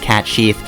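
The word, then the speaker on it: Cait Sith: everybody's figured out that it's a supposed to be pronounced cat Chief except Square Enix yeah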